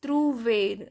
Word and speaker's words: trouver: So the first verb I have taken, that is trouver. So you know that OU sound is U. So trouver, and last R is always pronounced.